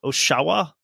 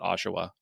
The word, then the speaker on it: Oshawa: speakers would pronounce it Oshawa, which is confusing because it sounds more like Ottawa, but I'll go with that.